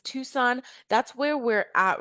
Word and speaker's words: Tucson: So, a lot of people, a lot of our international students initially when they come in, they believe it's called Tukan, but it's actually pronounced Tucson.